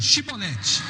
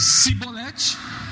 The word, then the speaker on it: chibolete: respondesse que não diz então diga chibolete E se ele dissesse sibolete sem conseguir pronunciar corretamente a palavra prendiam e matavam no